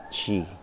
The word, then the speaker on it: qi: Sa TCM kasi, ang energy ay chi, o spelling na Q-I, pronounced as chi.